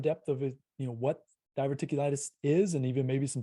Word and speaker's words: diverticulitis: last two or three years so the diver diverticulitis is that pronounced correctly yep what can you just unpack